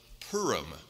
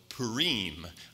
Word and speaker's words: Purim: you're in the country the feast of purim or purim there's different ways of pronouncing that word and it's a feast